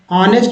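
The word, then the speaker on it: honest: है अ जसे ऑनेस्ट ऑनेस्ट में एच साइलेंट शर का लेटर है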